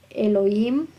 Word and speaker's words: Elohim: Ahí tendría que decir Elohim o Elohim, algunos llaman, no lo pronuncian la H como J, sino es muda. Elohim, y eterno significa, en el diccionario significa Olam, Elohim, Olam.